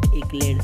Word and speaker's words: accolade: आज का वर्ड है एक्लेड, ACCOLADE। इसका मतलब होता है हिंदी में शाबाशी। इसको प्रोनाउंसिएशन करते हैं एक्लेड से, ठीक है।